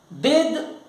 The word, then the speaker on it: bathe: बेद, इसका उच्चारण बेद है, बेद।